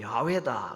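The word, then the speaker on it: 야훼: 공개를 하시는 것이 나옵니다 나는 여호와다 조금 더 정확한 히브리어 발음으로 야외다 그랬습니다 그 야외라는 단어가 어디에서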